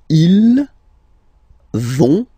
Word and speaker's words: ils vont: So, ils vont, final T, not pronounced.